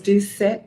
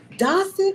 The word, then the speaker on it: Doucette: And I said, is it Dossett or is it Docet? And she was like, it's Doucette. So, okay. And they made this little joke yesterday about how one of the ways we can remember how to pronounce her name is that she says, I am Doucette and I do set the example.